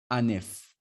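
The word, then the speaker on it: un œuf: Now the F here is pronounced. It's pronounced in this case. That's why you hear it being pronounced as F. Anef.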